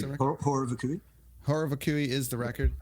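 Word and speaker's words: Horror Vacui: Horror Vakui, is that how you pronounce it? Horror Vakui.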